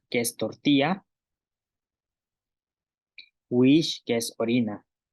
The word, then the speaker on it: wiix: Wish, que es orina.